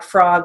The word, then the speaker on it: frog: And the next sentence over, do you like frog legs? So you've got frock and frog. Again, it's spelled with an O, but it has an